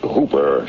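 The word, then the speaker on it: Houber: Uh, the name's Hooper, spelled H O U B E R, but pronounced to rhyme with Cooper.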